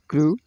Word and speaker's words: crew: ठीक है, यू, यहाँ पर इन शब्दों में ये ऊ का उच्चारण है। कैशू, कैशू, क्रू, श्रू, चू।